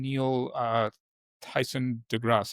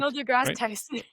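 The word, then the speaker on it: Neil deGrasse Tyson: Neil uh Tyson Degrasse. Am I getting that correct? Neil Degrass Tyson.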